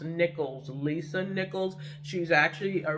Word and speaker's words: Nichols: um and yeah because her name is not nicole is actually pronounced nichols lisa nichols she's actually